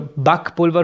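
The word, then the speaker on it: Backpulver: बक पुलवा, ठीक है, बक जो है BACK, इसको बैक नहीं कहते, इसको बक कहना है, बक, और पुलवर आपका होता है पाउडर, तो बक पुलवर हो गया, बेकिंग पाउडर, सिंपल हो गया, ठीक है।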